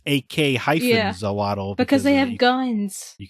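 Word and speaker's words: Ak-Xolotl: Axolotl, but this game is AK-Zolotl.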